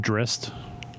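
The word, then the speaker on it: Drizzt: i want to play drizzy and i'm gonna get a 4-1 also i was told in chat earlier that card's pronounced drist oh drist yeah okay yeah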